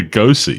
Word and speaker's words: Lugosi: The movie stars Bella Lugosi. Who is Bella Lugosi?